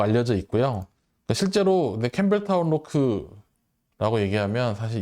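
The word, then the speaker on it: Loch: 블렌디드 스카치 위스키인 캠벨타운 로크라는 위스키 브랜드도 가지고 있습니다. 이 캠벨타운 로크는 원래 캠벨타운은 지역 이름이고 캠벨타운 로크, 로흐 뭐 이렇게 발음하기도 하는데 이 캠벨타운 위스키 성지잖아요.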